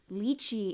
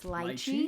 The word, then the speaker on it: lychee: I also learned that I was saying lychee incorrectly. It's lychee, Lychee?